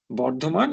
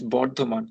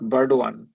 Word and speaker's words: Bardhaman: Bardhaman is Bardhaman, not Burdwan.